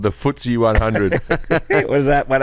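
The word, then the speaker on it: FTSE: then you got the footsy J what's the footy it's pronounced like footsy footsy stock let see what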